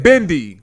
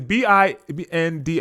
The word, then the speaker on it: bindi: Bendy. Bendy? I'm sure that it's BINDI.